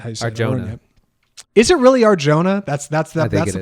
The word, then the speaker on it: Arjona: right up until he meets uh Madison Audrey Arona I think is how you is it really Arjona that's that's that's the pronunciation Arjona Audrey Arjona Aron I know yes